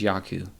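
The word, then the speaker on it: Jaco: i butchered your name i believe it's yaku yaku it's j-a-c-o yaku bullions b-o-o-y-e-n-s um he's uh he's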